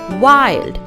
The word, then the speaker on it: wild: The actual sound of short vowel I is E. But in these words, it is pronounced as wild.